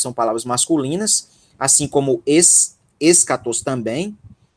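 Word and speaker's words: ἔσχατος: Ok, eu acho que é escatos. Pronto. Só ressalte, enfatize bem a sílaba tônica. A sílaba tônica é onde está o acento.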